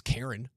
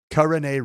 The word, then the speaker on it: Kareem: The correct pronunciation of Utah linebacker who is now a Denver Bronco pulling up to Dove Valley in a 2022 Tucson. It is Kareem Reed.